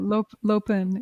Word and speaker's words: Lopön: me if I'm wrong, and I may be mispronouncing it. Lopön? How do you say it? Lopön. It's a Tibetan Lopön. word. Lopön. Tibetan. Uh-huh. Lopön.